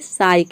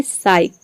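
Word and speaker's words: psych: इसमें भी देखिए साइक यानी कि पी एस एक साथ आ रहा है, तो यहाँ पे पी साइलेंट है, केवल हम एस को प्रोनाउंस कर रहे हैं तभी इसको हम प्रोनाउंस कर रहे हैं साइक।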